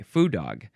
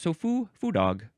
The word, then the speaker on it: foo dog: But it is spelled here, foo, and I think the pronunciation is saying ooh and not oh. Yeah, ooh, I think that's it. So foo dog.